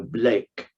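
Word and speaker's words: Bleek: is sped b l k uh but you pronounce it in the English version of it as you would Boven so Blake and he uh came to South Africa first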